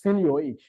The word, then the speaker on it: seigniorage: It is pronounced as seigniorage.